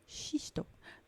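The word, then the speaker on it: xisto: i s t Shish or in Portuguese it's x i s o shisto that's right what is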